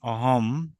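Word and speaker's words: অহম্: এটা লেখার সময় মানে যখন আপনি লিখবেন কিন্তু লেখেন কিন্তু উচ্চারণের সময় কিন্তু উচ্চারণের সময় সর্বদা মস মানে ম উচ্চারণ করতে হবে ক্লিয়ার আমি উদাহরণ দিচ্ছি উদাহরণ লিখুন। যেমন অহম ঠিক আছে অহম অসীমহ গেল।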